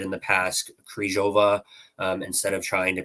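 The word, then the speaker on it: Křížová: But it is more of a rolled R with a Z sound in that second letter, right? So it's Kryzhova.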